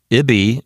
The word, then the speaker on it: ibi: Ibi is two syllables, so the accent falls on the first syllable.